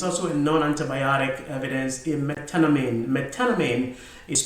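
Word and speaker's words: methenamine: The sixth one, the evidence uh is also a non-antibiotic evidence in metanamine. Metanamine is spelled M T H E N A M I M I N E.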